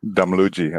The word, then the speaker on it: Damluji: Actually, I realized that I did not ask how to pronounce Mona's last name, so perhaps you can pronounce it for me properly. Damluji, I believe.